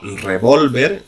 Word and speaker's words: revólver: ejemplos por poner algunos no es lo mismo revólver con tilde lado que es un arma que revolver la misma palabra pero sin tilde ya pronunciado de forma de aguda que significa remover tampoco